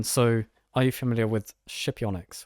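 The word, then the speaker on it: Scipionyx: are you familiar with shipyonyx which is apparently how you pronounce that so it's this incredible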